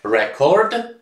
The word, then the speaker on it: record: tych wszystkich naszych słówek rzeczowniki od czasowników w których rzeczownik wymawia się inaczej niż czasownik mimo że obydwa są tak samo pisane tak do tej pory było czy bóg czy cover czysto czy był mark to zawsze wymowa była taka sama a tutaj rzeczownik wymawia się rekord i to ze to